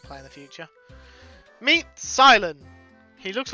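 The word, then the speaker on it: Cilan: And I know it's pronounced Silent because I've seen the show.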